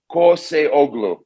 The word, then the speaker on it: Koseoglu: have you on so you just pronounce every letter by itself corsei oglu okay okay you got